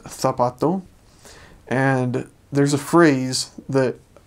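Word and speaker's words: zapato: But it means whenever there's a C or a Z letter and the C makes a S sound, then you pronounce it kind of as we would in English the almost. So an example is um heart is korathon, shoe is tapato and there's a phrase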